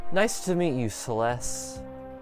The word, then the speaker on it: Celes: Fantasy this is like saying Celestial but you stop halfway okay Celeste okay Celeste cool all right nice to meet you Celeste Joel's Mighty General